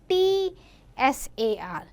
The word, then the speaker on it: Tsar: Sometime we write CZAR and sometime in few books you will find TSAR. But the pronunciation is Tsar.